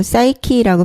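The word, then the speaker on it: Psyche: 어 그리고 푸시케를 영어식으로 사이키라고 발음을 하는데 영혼히 이제 정신하고 밀접한 관계가 있다 보니까 정신의학 관련 용어에 두루 쓰여요.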